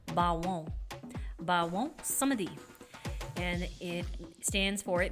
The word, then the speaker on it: Baron Samedi: First of all, it is French and in the French pronunciation it is Bawon. Bawon Samedi.